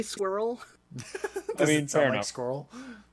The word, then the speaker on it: Skorl: Did you say squirrel? No, I said squirrel.